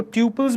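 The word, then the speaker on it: tuples: तो नेक्स्ट देखते हैं अपन अबाउट टपल्स, जिसको ट्यूपल्स भी कहते हैं रो लोग, तो जो आपको सही लगे वो प्रोनाउंसिएशन आप अपना लीजिए, टपल्स या ट्यूपल्स, what ever pronunciation you want. सो मैं तो टपल्स बोलता हूँ।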